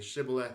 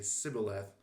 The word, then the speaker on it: shibboleth: So the insiders would say shibboleth and the outsiders would say sibboleth.